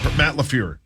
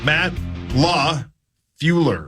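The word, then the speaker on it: LaFleur: be coaching the P it's just crazy that you literally skip a letter how do you say it I I don't want to tell you I'm afraid of you're saying it the way you say it again Matt Law flure oh man so close how do you say it there's an L in the middle Matt Law fueler my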